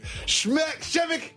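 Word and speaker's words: Przemek: Probably Shimmick Karnowski. You are right. Everybody calls him Karnowski, but they just told me how to say his first name. Shevik Karnowski.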